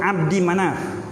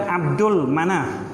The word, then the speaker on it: Abdi Manaf: Tu sebab disebut Abdi Manaf, bukan Abdul Manaf.